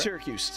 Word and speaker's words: Syracuse: Syracuse.